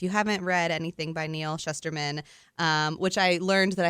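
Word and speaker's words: Neal Shusterman: And making note in my own head that it's like shush. Should or would, like sh, like, yeah.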